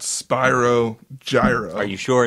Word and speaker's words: Gyro: Spelled out on their menu, euro. Euro. Yeah. But it's Spiro Pronounced Gyro. gyro.